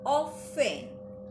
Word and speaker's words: often: Our chapter is that we are going to learn the usage of the word often, O-F-T-E-N. So it is pronounced as often, T is silent, right?